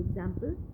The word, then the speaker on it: example: For example, examples in English word which has 3 syllables. Example. The letter X in this word represents 2 sounds, g and z.